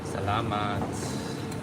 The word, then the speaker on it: Salamat: Salamat.